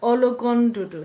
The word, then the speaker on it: Ologududu: Ologududu. So I need to say this properly, right? Dr. Ologududu.